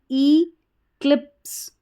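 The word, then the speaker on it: eclipse: इ क्लिप इक्लिप इक्लिप और एस ई जब लास्ट में रहता है इसको स करके पढ़ा जाता है। इ जो रहता है इसका उच्चारण नहीं होता लास्ट में।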